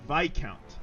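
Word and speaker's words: Viscount: pronunciation lesson number two it's pronounced VI count uh you're right I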